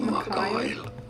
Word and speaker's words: Mikhail: This is Mikhail. Mikhail? Okay. Pronunciations. Okay, we're gonna listen to. Hopefully that's not a lie. Mikhail. Okay. It's similar to Kyle, which makes sense because, you know, the name Kyle.